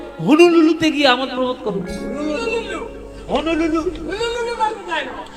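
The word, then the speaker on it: Honolulu: হনুলুলু, আরে হলুলুলু নয়, হনুলুলু। ভালো করে উচ্চারণ করতে হবে।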